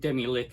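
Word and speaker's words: Demilich: So let's kick this off with a couple of Demi-Leech, or I think Demi-Lick is actually the correct pronunciation, but I'll use both.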